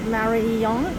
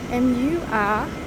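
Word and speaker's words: Mariyung: And I've actually been spelling and pronouncing it wrong. It's actually not Mariyang, it's actually Muriyung or Ang.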